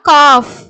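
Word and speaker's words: cough: அதே மாதிரி பாத்தீங்கன்னா காஃப், இதை எப்படி படிப்பீங்க? கா இஃப் காஃப்.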